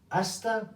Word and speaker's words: hasta: ask that from them the H we do not pronounce in Spanish hasta pronto see you soon